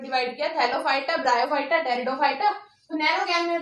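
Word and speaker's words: Pteridophyta: Here P is silent, तो क्या बनेगा हमारा टेरिडोफाइटा।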